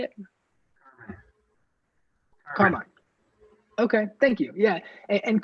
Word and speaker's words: Carmine: Carmine.